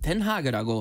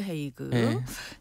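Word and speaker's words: Den Haag: 그는 영우식 이름인데 네덜란도로는 덴하그라고 하는데네 소료는 도시 이름은 스라은하라고 해요. 헷갈리시죠? 예. 헷갈리시죠? 아마 발음이 좀 어려워서 그렇게 된 거 같아요. 그렇죠. 예. 영어식으로 헤이그 야닉 씨는 고향이 어디세요?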